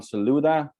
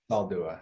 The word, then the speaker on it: Saldua: Saldua. Did I pronounce that right? Saldua.